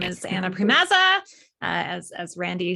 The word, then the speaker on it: Priemaza: us off sure uh my name is anna primazza as as randy said and pronounced it perfectly which was impressive um i